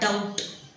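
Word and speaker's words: doubt: next word इकडे आहे डी ओ यु बी टी ह्याला बोलतात डाऊट डाऊट बी सायलेंट असतो बी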